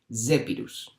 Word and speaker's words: Zephyrus: Y la Z se pronunciaría como DS, Zephyrus.